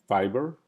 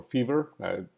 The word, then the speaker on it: Fiverr: We have, at the beginning, we started with Upwork and Fiverr or Fever. Some people pronounce it different ways.